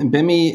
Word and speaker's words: BIMI: in their business sure well bimmy is uh sounds just like it it's spelled just like a sounds b-i-m-i it's called brand indicators